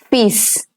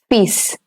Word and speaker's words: fils: For son, it is fils. The L over here is going to be silent. It's pronounced as fils.